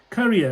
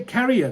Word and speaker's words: career: I have to admit how do you say career very good who was that last name yeah career not career they say carrier carrier is the bag you know sometimes you